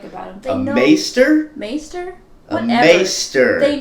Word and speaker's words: Maester: Master Maester. How can there be a correct pronunciation for a made-up word?